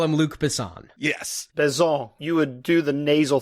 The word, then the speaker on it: Besson: how to say it, Luc Besson. Kind of just slur at the end of it to make it sound French. I think Americans call him Luc Besson. Yes. Besson.